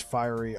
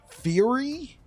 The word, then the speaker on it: fiery: We would have to use fiery. Oh. Fury? Have I been pronouncing this wrong? Fury Dragon Shoes. I thought it was Fiery Dragon Shoes. Fury Dragon Shoes? It's fiery. Fiery.